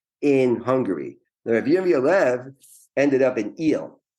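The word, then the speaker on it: Újhely: Hungary ended up in eel which if you know called I don't know the long Hungarian pronounce sat u u j h l y is the way you would write eel in Hungarian eel is very famous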